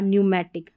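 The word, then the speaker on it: pneumatic: निमोनिया और न्यूमैटिक P silent है।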